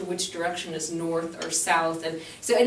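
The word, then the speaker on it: Nord: the w we have an O so um North is easy it's nor n o r d East is pronounced s or S excuse me e EST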